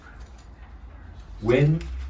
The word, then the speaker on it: wen: Wen and chur. Wen is spelled W-E-N, and chur is spelled C-H-I-H.